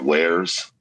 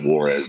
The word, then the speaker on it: Warez: And you would be able to download this thing called Wares. And some people pronounce it Warez, WAREZ.